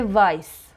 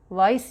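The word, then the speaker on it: weiß: لاتین نوشته میشه و وقتی که د تا اس پشت سر هم بخوایم تلفظ بکنیم معمولاً این حرفو می‌نویسن به جاش صدای سه میده یه سه خیلی محکم انگار د تا سه پشت سر هم داری میگی مثل وایس وایس یعنی رنگ سفید اس ست یا شارپ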